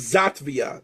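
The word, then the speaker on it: Xàtiva: And he receives a query from a fellow rabbi in a nearby city which is known as Zatvia spelled with an X.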